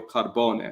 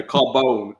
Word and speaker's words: Carbone: His name is Mario Carbon. So, he's actually of Italian. Mario Carbon. Yeah. No, Carbone. Carbone. Not Carbon.